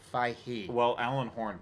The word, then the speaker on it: Feige: You don't pronounce the G. It's like Feige.